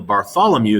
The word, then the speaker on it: Bartholomew: And so they keep pushing further and further and further and further down the west coast of Africa until Bartholomew is how that's pronounced.